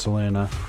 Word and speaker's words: Seline: I'm calling her Seline. Apparently, it's pronounced Selena.